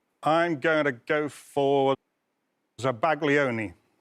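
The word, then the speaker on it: zabaglione: going to go for zabaglion zagon or zabayon as I have heard it pronounced um zabon zabon there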